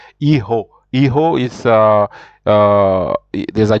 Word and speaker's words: hijo: For example, the J in Spanish is pronounced like a H. So for example, if you see the word you see my son, you will say hijo.